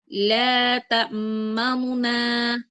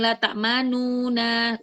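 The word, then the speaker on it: تأمنا: Jadi cara bacanya seperti ini. La tamuna. La tamuna. Jadi bukan laununa.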